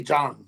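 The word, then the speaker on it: Zhang: Jang the thing is my DL has been telling me you almost pronounced it right j j jol j j Jang apparently is how you pronounce it I don't know if he's an expert on Chinese talk but J Jang anyway I mean you know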